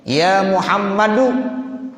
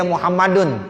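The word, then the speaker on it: يا محمدُ: Ya Muhammadu, nggak boleh bacanya ya Muhammadun, nggak boleh.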